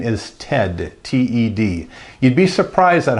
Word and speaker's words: Ted: people my name, because they'll say Tad, they'll say Ned, I'll say no, Ted, T-E-D.